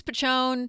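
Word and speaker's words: Piccione: pronouncing this right right it's called Pichon I believe how do you spell it P i c c i o n e okay not I think it's pachon p that's what people right people tell me right so it's um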